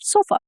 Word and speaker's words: sofa: Sofa. Sit on the sofa. So f that uh that you hear that's represented by the symbol inverted e.